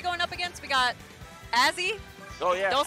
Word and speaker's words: Azzy: We got Azzy. Oh, yeah. Don't say it wrong. Azzy.